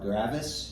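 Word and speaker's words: Gravois Mills: house in gravo Mill gravo Mills now is it grao gravo I I've always left the S as silent on both which let's be honest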